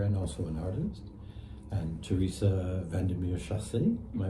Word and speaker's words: Teresa Vandermeer Chassé: And Teresa Vandermeer Chassé, am I pronouncing it That's correctly?